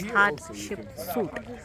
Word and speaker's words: Hatshepsut: That's how it's pronounced as Hatshepsut.